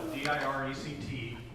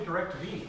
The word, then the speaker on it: DirecTV: They spell it D-I-R-E-C-T-V. Yeah. It's only DirecTV. Yeah. It's not DirecTV. This it's is true. DirecTV. They charge you as though there's an extra T, if you know what I mean.